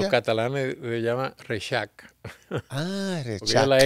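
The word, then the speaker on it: Rexach: el apellido de mi madre que aquí decimos res Ajá pero se pronuncia los catalanes se llama resac Ah la X La pronunci como ch y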